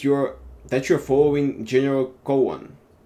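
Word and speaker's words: Gowon: that you're following General Cohan is it Cen or Goen it's it's actually G hell I mispronounce his name this whole time go go okay go imagine the true following General Goan he has been to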